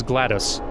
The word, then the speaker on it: GLaDOS: Her name is GLaDOS, by the way. Spelled like the word glad and OS.